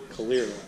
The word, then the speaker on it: Calera: Calera.